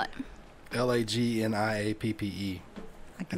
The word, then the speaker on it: lagniappe: Lagniappe. I can It's make- actually pronounced how you would not think. It's just like a 2-syllable word, just spelled weird.